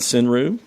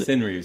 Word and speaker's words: senryu: Indian Summer by the band Sinru, which you've recorded here in this studio before. And it's a Knoxville band. Knoxville band. Sinru, spell that.